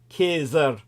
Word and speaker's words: Caesar: Caesar or nothing when Caesar correctly pronounced ker uttered the phrase he